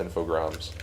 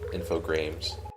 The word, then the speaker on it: Infogrames: yeah it looks like it looks like it's spelled infogrames but it's spelled it's pronounced infograms i've never heard of this before because every time i see it it i think it um i think it's pronounced or every time i used to see it before i knew how it was pronounced i thought it was infogrames gotcha just a random